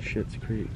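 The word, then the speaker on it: Schitt's Creek: Is that how you pronounce that? Shit's Creek, yeah.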